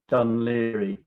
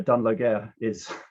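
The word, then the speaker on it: Dún Laoghaire: done leary which is spelt these days as seen on the left but pronounced done leery dublin's full of english tourists asking where dunloguer um so damoloko spent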